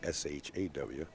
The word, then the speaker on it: Shaw: that's for sure and I don't mean sure as an s-h-a-w ha how do you say his last name John you're from the sticks Shaw Shaw yeah she makes fun of me they say sure Jersey sure I think